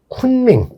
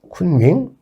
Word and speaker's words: 쿤밍: 이 원난의 성도가 여러분들 그 쿤밍 들어보셨죠? 네. 쿤밍. 한자로는 이제 곤명이라고 하죠. 곤명. 그래서 이제 이 시안은 서안을 중국식으로 발음하면 시안. 그 다음에 청두를 중국식으로 하면 성도. 그 다음에 곤명을 중국식으로 하면 쿤밍이 됩니다.